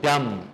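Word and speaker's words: dumb: है noun then word डम इसमें बी साइलेंट है ब क्या है डम नहीं पढ़ना है इसको डम बोलिए डम गूंगे को कहते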